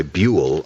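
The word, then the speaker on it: Buhl: B-U-H-L, by the way, Buell.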